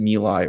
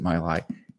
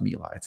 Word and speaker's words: My Lai: what is the pronunciation is it milai or is it my lie it's in fact pronounced mila it's the milai massacre uh it's a book